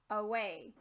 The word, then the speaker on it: away: Try for the real word, away. This A up here is a schwa. It doesn't sound like its normal short or long sound.